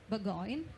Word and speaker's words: Burgoyne: it uh it reminds me of your brand Burggoyne first and very good well pronounced.